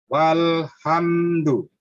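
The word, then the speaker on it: وَالْحَمْدُ: wa, alif, hadu, Alifnya itu tidak dibaca. Baca cepat. wa, alif, ha, alhamdu, Baiklah, kamu perhatikan itu hurufnya. Kamu perhatikan, kamu minta bantuan kepada huruf itu. Saya kasih tahu. Bacanya walhamdu. Silakan kamu ulang dari alhamdu.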